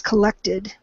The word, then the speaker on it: collected: And again, it's going to be a short E in that middle one. It's collected.